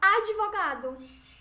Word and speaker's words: advogado: ritmo pneu captou certo Olha como a gente pronuncia estas consoantes mudas certa a gente não vai falar advogado a gente fala advogado certo com uma consoante